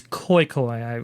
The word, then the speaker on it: Khoikhoi: I'm not sure how to pronounce that. I believe it's Khoikhoi. Khoikhoi.